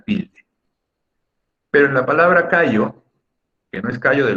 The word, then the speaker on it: callo: La sílaba tónica en esta palabra es la primera, K, y no lleva acento ortográfico, o sea, no lleva tilde.